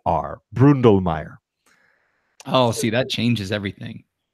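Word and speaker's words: Bründlmayer: you with an umlaut NDL ma y er Brundle Mayer Oh see that changes everything yeah you you should know that Willi Brundle Mayer Farms 75 hectares of Gruner Riesling and a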